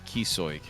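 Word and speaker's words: Ó Cíosóig: That's apparently how you pronounce it. Kisoig.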